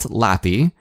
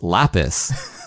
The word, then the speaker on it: Lapis: before the show and look up how to pronounce LAPI it's not LAPI it's lapis so the game that I spent you know